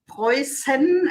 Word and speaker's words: Preußen: So it looks like a B, but it's slightly different, and it's like it's spelled like, or it's pronounced like a S. So it's Preußen.